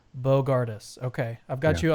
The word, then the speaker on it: Bogardus: Okay, how do you pronounce your last name though? Oh, Bogardus. Bogardus. Bogardus.